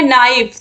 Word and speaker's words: knife: जैसे कि एक वर्ड है नाइफ, तो इसकी स्पेलिंग होती है KNIFE, जिसको हम कहते हैं चाकू। ठीक है। तो यहाँ पर आप देखिए नाइफ के जो है ये साइलेंट हो गया है।